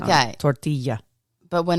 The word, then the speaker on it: tortilla: Tortilla. Tortilla. No. Tortilla. Listen, I speak Spanish. The double L sound in Spanish is a y sound. Okay. Tortilla.